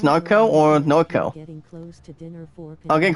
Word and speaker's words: Norco: out the launch server called narco n-o-r-c-o evan that's how you pronounce narco or no kill i'll